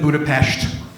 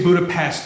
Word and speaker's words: Budapest: used to live in Budapest uh you have to say it like that or else if you say Budapest they'll get very upset with you I lived in